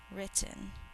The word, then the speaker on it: written: on the front cover written two syllables think to spell it ten in normal speech we only hear one of the t sounds but we think to spell both of them so that we get the double letter spell out loud with